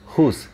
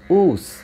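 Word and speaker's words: whose: যদিও কিছু ব্যতিক্রম আছে, আই মিন ডাব্লিউ এইচ এর উচ্চারণের ক্ষেত্রে কিছু ব্যতিক্রম আছে, যেমন ডাব্লিউ এইচ ও উচ্চারণটা সেই ক্ষেত্রে হু হবে, আবার উ এটা হবে না, মনে রাখতে হবে।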